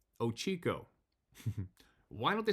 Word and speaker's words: Ochoco: I was bow hunting in the Ochoco Mountains, pronounced Ochico.